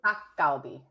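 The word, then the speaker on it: 닭갈비: Dakgalbi.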